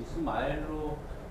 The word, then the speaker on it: 이스마엘: 그거를 지금 영어식 표현으로 해서 이렇게 발음을 했는지 모르겠지만 네. 그거를 외래어 표기법에 의해서 했던 그 이스마엘로 그 번역을 해야 되는 게 옳지 않나요?